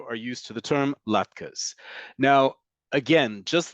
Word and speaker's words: latkes: will in diaspora communities, but they are pronounced latkes.